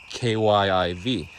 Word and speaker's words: Kyiv: In the 90s, they made it Kyiv, I think, K-Y-I-V. So the Ukrainian spelling and pronunciation, Kyiv. Kyiv.